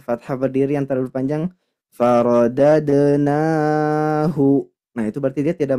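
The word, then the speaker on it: فرددناه: Faradadnahu. Seperti itu. Lanjut, di sini ada huruf H. Nah, huruf H ini rentan sekali untuk diseret atau digeser. Makanya harus jelas pelafalannya. Faradadnahu. Tidak boleh faradadnahu ila tapi hu.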